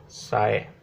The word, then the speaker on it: psi: करेंगे with a symbol साई। ये Greek symbol है जिसको हम प्रोनाउंस करते हैं साई, पी हिडन रहते हैं।